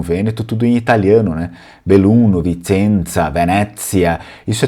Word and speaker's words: Belluno: No Vêneto original eles não falam assim, eles não falam Belluno, então eles vão falar Bellum.